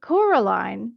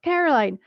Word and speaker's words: Coraline: name wrong you know they keep saying Coraline not Caroline not Caroline at all he picked up the